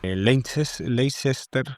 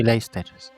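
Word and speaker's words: Leicester: la muerte el hermano Lecester, creo que se llamaba. Y Leers, eh, sí, exacto. Soy malísimo para las pronunciaciones. Se escriben de una forma, se dicen de otra. Es leer. Se escribe lechester.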